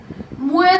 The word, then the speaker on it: मुए: रसना हर रस चाख मुए मुए दा उच्चारण मुए करना है, क्योंकि मम्मे नु अंकड़ ये नु लाम है मुए।